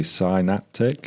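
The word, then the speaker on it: SAInaptic: to Mis pronunciate it I'm going to say synaptic perfect perfect however there's a clever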